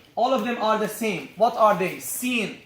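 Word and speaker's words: س: First of all, to pronounce these 3 letters, you place the front part or the tip of your tongue at the lower teeth, at the base of the lower teeth, like this.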